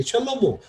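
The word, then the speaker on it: שלמה: 근데 뭐가 맞냐면 사실 이 단어를 아는 사람은 이게 뭐로 발음하는 게 맞는 걸 알아요. 이게 셜로모, 솔로몬이라고 하는 사람 이름입니다.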